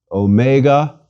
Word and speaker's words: Omega: repeat sigh and finally Omega Omega is big o mega o as opposed to micro or Omicron mega o is long like the O in open please repeat Omega o the first letter